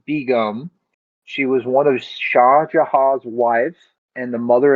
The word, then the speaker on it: Shah: Shah, is that how you pronounce it? Yeah. What did I say? Didn't you say Sean? Same thing.